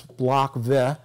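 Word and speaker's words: Блок В: this is Block V, which is the third letter in the Russian alphabet. So it's pronounced V. It's not a V for five, but it's Block V.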